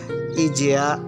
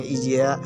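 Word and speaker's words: Aegea: yang paling penting pemandangan laut Ija atau ditulisnya Aiga atau dibacanya Ija yang menajubkan faktanya arsitektur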